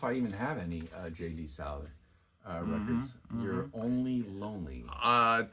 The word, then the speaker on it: Souther: Souther.